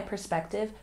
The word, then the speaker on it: perspective: We put the apostrophe here to show where the stress is. Perspective, perspective. Once again, perspective.